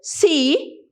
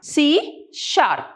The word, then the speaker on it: C#: Now this C along with this hashtag, it is pronounced as C#.